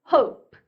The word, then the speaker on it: hope: 자, 이는 발음 안 한다고 했습니다. 자, 안 울리는 p 끝나요. 그냥 입 꼭 다무는 걸로 끝내시는 겁니다. hope, hope. 다물었는데 다음 소리를 하거나 숨을 쉬게서 입술을 떼는 순간 그냥 약간 바람이 칙 하고 셀 거예요. 바람이 안 새고 하고 울리는 소리가 새는 순간 발음이 잘못되는 거죠.